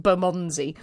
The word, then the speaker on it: Bermondsey: It's just Bermondsey.